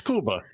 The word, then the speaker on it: Cuba: Cuba, or is it Cuba? No, it's Cuba. Yeah, well, it depends on what part of the country you're in. If you're in Miami, it's Cuba.